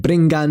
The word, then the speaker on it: briggan: Ch when post-vowelic G or GS at the end of a word, such as dags meaning day, and nga when before K, G, GW, or Q, as in bringan meaning to bring, and drinkan meaning to drink.